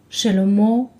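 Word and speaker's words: שלמה: up the letter mem so the word sounds like shallow mo with valve usually the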